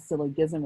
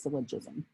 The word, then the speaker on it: syllogism: is called lavs syllogism that's a soft g it's not syllogism it's syllogism if p implies q